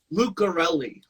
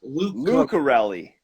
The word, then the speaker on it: Lucarelli: It's Uh, Lucarelli. Lucarelli. Okay. I gotta say, man, I'm always big on pronunciations too.